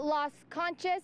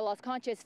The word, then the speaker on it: Las Conchas: Is it Las Conchas? How do you say it? Pronounce it? Las Conchas.